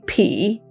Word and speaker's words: 匹: If it's used for clothes, it would be P, the third tone.